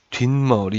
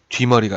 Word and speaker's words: 뒷머리: 둡시다 이건 어떻게 되면 뒷머리 이렇게 발음 해요 뒤 머리가 아니라 뒷머리 그쵸 여러분도 뒷말이 라고 하죠 뒤 머리 안 하죠 비 물 알아